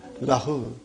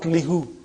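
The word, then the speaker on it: لَهُ: It becomes lahu, not lihu. Lahu. Okay? It changes because it's easier to pronounce. Now that change is for the phonetic reasons, not a grammar reason.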